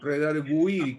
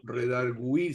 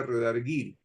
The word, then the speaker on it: redargüir: ser reduir de gato redargüir como este con diálisis que se escribe con diéresis en la u redargüir si no sería redarguir sí no ya ya